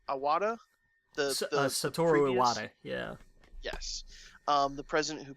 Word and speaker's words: Iwata: online about history of Nintendo and help me pronounce it's it's iwata satoru iwata yeah yes the president who passed away he